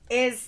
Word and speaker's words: ai: It's actually, okay, I'm going to get real nerdy on you. So that's called a diphthong.